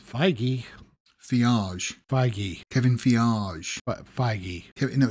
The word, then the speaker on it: Feige: producer kevin fiage has um what oh it's feige fionage kevin fiorage no it's fioraj baggy biage